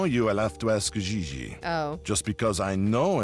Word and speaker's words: Gigi: En français, you pronounce G like J and J like G. She may very well be J.J. in America, but in France, she is Gigi.